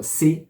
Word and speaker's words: sap: volonté pour dire il sait ou elle sa alors ça c'estécrit s a P mais le P ne se prononce pas on dit tout simplement